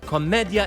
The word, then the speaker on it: commedia: fools love to play Comedia improviso now these words Comedia and improviso are pronounced correctly that's how you say them in Italian the problem is that